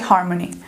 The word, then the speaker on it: harmony: Qual que é a sílaba forte de harmony? Harmony, harmony, ou harmony, harmony, harmony. É o har, certo? Então, har é a sílaba forte dessa palavra.